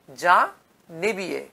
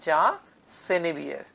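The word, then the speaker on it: Senebier: এরপর আমরা পাবো এ সুইস মিনিস্টার যা নেবিয়ে, আগে বাংলা বইতে লেখা থাকতো যা নেবিয়ে, এখন যদি আমরা উচ্চারণ দেখি গুগলে তাহলে দেখব উচ্চারণটি হচ্ছে যা সেনেবিয়ের।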